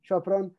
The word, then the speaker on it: Sopron: He was born in Munich and raised in Vienna and the Western Hungarian town of Sopron, which I'm surely mispronouncing. He moved to Sopron? Yeah, that was right. Yeah, Sopron.